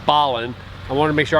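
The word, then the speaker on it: Belen: our new mexico video saying the town was belling when it's actually ballin i want to make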